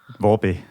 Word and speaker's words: Volpe: Volpe. Oh my God, we have a winner. Yeah. I feel like when I first started talking to you online, I probably didn't know. You were that's Volpe.